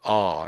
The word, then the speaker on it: our: I'll probably say something like a I'll probably just say R actually R as if it was the letter R.